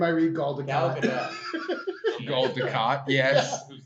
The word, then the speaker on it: Gal Gadot: the T is not silent. She's not French. She's Israeli. I thoroughly researched it. Thoroughly Every researched. time I see her Who? name, I read Gal Gal Gadot.